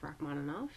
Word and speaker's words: Rachmaninoff: composer named steady gait Rachmaninoff Rachmaninoff is the English pronunciation but it actually is